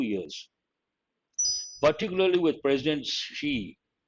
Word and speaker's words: Xi: Particularly with President Xi, we pronounce XI as Xi, framing China's COVID response as one of his big legacies.